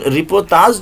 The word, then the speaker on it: رپورتاز: ہمارے پاس آئی ہے۔ لیکن رپورتاز جو ہے اسی لفظ کا فرانسیسی تلفظ ہے، فرانسیسی میں رپورتاز کہتے